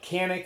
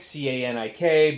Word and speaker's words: Canik: And I know a lot of people call it Canik, C-A-N-I-K, but my understanding is that the Turks pronounce it Canik. So we'll call it Canik just for the sake of keeping with the Turkish pronunciation.